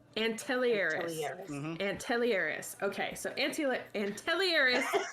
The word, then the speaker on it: Antelieris: Antelieris. Antelieris.